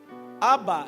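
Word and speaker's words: Abba: Es exactamente la palabra de amor, solo que la pronunciación es acentuada al final. Aba es la palabra para decir padre o papá.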